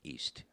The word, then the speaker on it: Istre: i s t r how is that pronounced East that's your last name